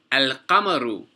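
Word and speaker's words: القمر: For example, al-qamaru. Al-qamaru. The qaf is a moon letter. Therefore, we pronounce the lam.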